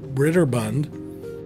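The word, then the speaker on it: Broderbund: he wanted to have it sent off to Ritter Bund that's how you say it and by Christ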